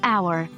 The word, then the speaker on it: hour: for instance a half hour the H in our is silent so it sounds like it starts with a vowel and half Apple the